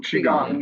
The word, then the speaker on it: Qigong: You do some Tai Chi and some Pilates, and then something, I'm not sure if I'm going to pronounce this right, Qigong? Am I saying that right? Qigong, yes.